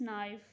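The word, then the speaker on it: knife: ठीक है, के का कोई साउंड आ रहा है? साउंड आ रहा है? नो। ठीक है, इधर से हम लोग जो है प्रोनाउंस करना स्टार्ट करें नाइफ, तो इधर जो के है वो साइलेंट लेटर है।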